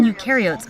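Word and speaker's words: eukaryote: on the other hand remember you rhymes with do and they do have a nucleus and other membrane bound organ both procaryotes and ukots are cells though and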